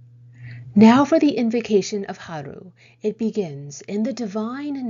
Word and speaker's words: HRU: Of interest here is who or what is HRU, pronounced HRU.